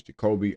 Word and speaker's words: Jacoby: So, I think that the correct pronunciation of his name is Jacoby.